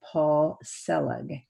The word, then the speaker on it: Paul Selig: upcoming films facing fear and faith along with paul selig did i pronounce that right you did yes great and